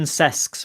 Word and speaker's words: Sesks: It's Martin Sesks, by the way. Just going to put a little pronunciation correction out there.